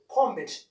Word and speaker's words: combed: So the voiced consonants can be pronounced as D sound. So when we pronounce this one, we can say simply combed. Yes, combed. We call in a normal D sound.